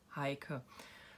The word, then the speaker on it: Hika: which is Hika and in case you ever wondered how to pronounce that weird German name it's hiker um but I don't have any issues if you call me high key on anything I'm yesterday